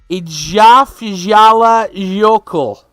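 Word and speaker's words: Eyjafjallajökull: of oh my gosh what is that word a jaffa jala yoko i'm gonna spell it for you so you can help understand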